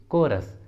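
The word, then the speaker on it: chorus: अगला एग्जाम्पल देखिए कोरस, कोरस, इसमें भी एच सी के बाद आया है इसलिए एच साइलेंट है इसलिए उच्चारण होगा कोरस, कोरस, ठीक है।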